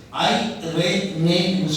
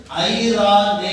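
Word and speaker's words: εἰρήνη: ஐ ரே நேன்னு சொல்லணும். EIRENE EI ஐன்னு சொல்லுவார்கள் Hebrew வேர்ட்ல. NRE ரா என்று சொல்வார்கள். NE நே என்று சொல்வார்கள். ப்ரொனவுன்ஸ் பண்ணும்போது ஐரா நே என்று சொல்வார்கள்.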